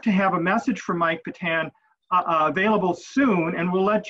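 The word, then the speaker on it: Patin: His name is Mike Patan. It's spelled P-A-T-I-N.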